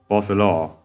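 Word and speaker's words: Focalors: Oh, so the S is silent. Fossilor.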